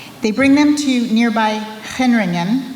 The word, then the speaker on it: Gendringen: They bring them to nearby Gendringen, which begins with the letter G, so it's pronounced Gendringen.